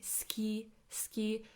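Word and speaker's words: 好き: and running 12 like ski ski ski I know that we write sui but when we say it we say ski ski it's as if the U the disappears okay this is not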